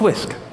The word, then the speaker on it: wsk: WSK, Whisk. It's pronounced Whisk.